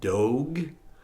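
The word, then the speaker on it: Doeg: Um the guy's name I it's spelled D O E G. How do you want to say that? Dog.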